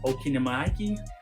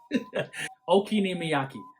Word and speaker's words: okonomiyaki: And then you have the okonomiyaki.